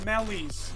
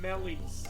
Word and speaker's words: melee: like accent stones uh those are called mellies also spelled like melee but yeah those are called melees first drink down time to